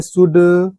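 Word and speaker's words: should: जो होता है ना शुड शुड कहां पढ़ रहे हैं इसको हम सोल्ड भी नहीं पढ़ रहे हैं इसको शुड पढ़ रहे हैं रूल वही कहता हमारे किसी भी शब्द में डी के पहले एल आता है य देखो डी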